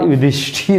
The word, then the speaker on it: युधिष्ठिर: उसके बाद देखिए युधिष्ठिर, लोग बोल देते हैं युधिष्ठिर, ये टीर नहीं होता है, ठीर होता है, अर्थात युधिष्ठिर होगा।